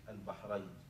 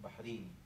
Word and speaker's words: البحرين: مدن معروفه قاعدتها هاجر وهكذا ينطق به بلفظ التسميه البحرين يعني اسمها هكذا والنسبه اليه بحراني بحراني الان كان المعاصر يعني اهل البحرين فيهم سنه وفين الشيعه الرافضه وكده لان اهل السنه يقولون بحرين بالياء الرافضه يقولون نسبه قديمه